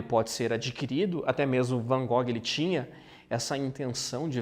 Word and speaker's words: Van Gogh: aqui é sobra de vincent van gogh ou na pronúncia correta vencendo cor né e é essa